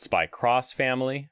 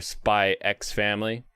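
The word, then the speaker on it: SPY×FAMILY: pages it was like the studio officially says the x is silent it's like yeah but now i'm going to say the x more now it's spike's family or spy x family spy cross family uh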